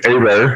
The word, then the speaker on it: Hebert: is aber and if you look at my last name uh it just looks like hebert but my family's from southern louisiana so it's got that french creole uh pronunciation that's a bear it's like the two roads a and bear put together uh i usually just